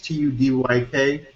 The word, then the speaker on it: Tudyk: Alan, I believe it's pronounced Tudyk. It's Tudyk.